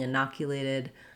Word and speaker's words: inoculated: covet 19 for example this also has second syllable stress and the o also says ah in this word so the start is the same in na with an a h sound um and then we